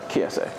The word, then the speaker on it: Kiese: Am I pronouncing it correctly? Kiese.